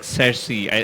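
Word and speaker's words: Cersei: as a queen in a Regal movie like cersi is that's how it's pronounced yeah yeah yeah you should be cast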